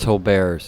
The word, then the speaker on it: Tolbert's: It's pronounced Tolbert's. It's a French chili parlor.